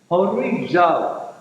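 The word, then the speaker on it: ὁρίζω: And it's spelled out H, that's an H, H-O-R-I-G-Z-O. Horizo.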